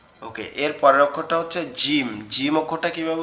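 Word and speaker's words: ج: ওকে, এর পরের অক্ষরটা হচ্ছে জিম। জিম অক্ষরটা কিভাবে উচ্চারণ হবে? জিম অক্ষরটা আমাদের জিহ্বার মধ্যকান উপরে তালুর সঙ্গে লাগবে, লেগে উচ্চারিত হবে জিম, জিম, এরকম ভাবে, ঠিক আছে?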